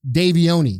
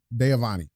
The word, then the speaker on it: Deavani: DJ was trying to tell me his name is pronounced Davioni. No. Yeah. Deavani. Deavani. That's his name. But that's a real pronunciation.